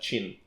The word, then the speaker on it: Qin: Like it's spelled Qin, but it's pronounced like Qin.